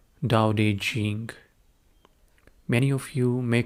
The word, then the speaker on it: Daodejing: the week, is called Daodejing. Many of you may call it Tao Te Ching. That's how it is spelled in English. But I'm going by the Chinese pronunciation, which is Daodejing.